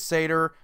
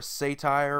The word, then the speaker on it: satyr: around Greek mythology anyway it is satyr but I still see a ton of people just completely butcher the name and they call it like a settee or a satire or a satire which is completely different it's hilarious to see